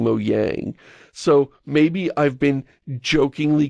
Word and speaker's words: Mojang: pronounce it you know do the j is a y thing that's hilarious a hilarious mispronunciation but then i hear you saying mo yang so maybe i've been